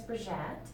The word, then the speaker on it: Bridgette: No, so my first name is Bridgette, Bridgette. but it's French and it's a Oh, little hard okay. to pronounce.